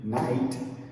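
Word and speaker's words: knight: And this word, which is very strange, night, it has the silent K, just like this word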